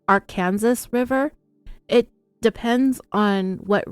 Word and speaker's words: Arkansas: another fun fact that I found out about Arkansas is that the state does have a law